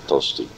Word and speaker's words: Tosti: they did I said if you want to spell it you want to call me Dusty you smell it like the Italian composer toasty oh and there was one yeah oh wow